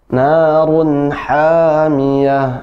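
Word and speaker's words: نَارٌ حَامِيَةٌ: Narun hamiyah. Ha ya, coba diulang. Narun hamiyah. Masih ha. Lebih ditekan ya ke tengah tenggorokan.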